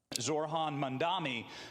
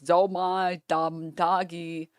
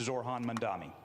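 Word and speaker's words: Zohran Mamdani: Zorhan Mandami, who in his every time they mispronounce his name, by the way, he he shoots up 1% in the polls. Every time they're like, "Zai Damagi," he shoots up another 1%.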